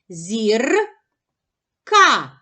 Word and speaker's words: зірка: поділимо слово на склади зір ка у слові зірка два склади визначимо наголос покличемо слово зірка наголос падає на перший склад на склад зір А який голосний наголошений